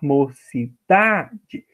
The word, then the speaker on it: mocidade: Mocidade, a sílaba forte é o da.